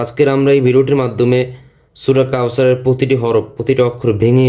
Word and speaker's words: কাওসার: কাউসার আমরা বানাম করার সময় পড়ছি কি কাউসা র, সা জবর সা, র জবর র, কিন্তু ওকফ করলে উচ্চারণ হবে কি কাউসার, কাউসার।